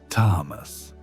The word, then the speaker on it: tamas: The ancient sages would have looked at Maya's condition and immediately recognized what they called tamas, pronounced tamas. Now, tamas isn't just laziness or inertia, though that's how it's often translated.